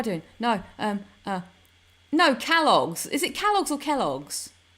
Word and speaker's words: Kellogg's: Is it Is it Kelloggs? It's not Calls. It's spelled. So why would you use an A? Cali logs. What? Kellogg. So it is Kelloggs.